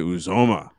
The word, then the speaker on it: Uzomah: his last name last year as well cj uzoma oh yeah starting tight end for the new